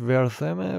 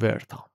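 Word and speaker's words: Wertham: مرد فردیک ورام بود تلفظ درستش ورثمه ولی ما بهش میگیم ورام ۳۹ ساله بود اهل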